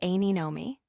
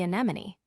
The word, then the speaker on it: anemone: While she tried to respond with, "What is a sea anemone?" Starnes buzzed in with the correct pronunciation of, "What is a sea anemone?"